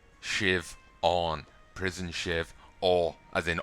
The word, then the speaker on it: Siobhan: silent b's in there siobhan shiv on prison shiv all as